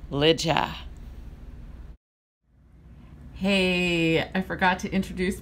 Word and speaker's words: Lidja: wanted to correct that I said Linda instead of Lydia the correct pronunciation as far as I know is Lydia hey I forgot to